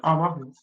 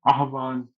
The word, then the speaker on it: आह्वान: स्पष्ट आवाहन सर फिर आवाहन क्यों बोलते हैं? ये तो आह्वान हुआ ना। मैम इसको भी आप आह्वान ही पढो। सच बताऊं तो। ठीक है? परंतु प्रोनाउंसिएट किया जाता है आह्वान।